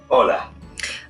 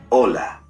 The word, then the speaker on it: hola: to pronounce those words did you notice that although hola starts with the letter h it is not pronounced the letter h is always silent in spanish as you go through